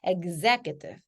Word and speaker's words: executive: 요거를 executive 이렇게 발음하시거나 exhibition 뭐 이렇게 발음을 하십니다. 근데 얘 어떻게 해요? egg 이렇게 발음돼요. executive, executive.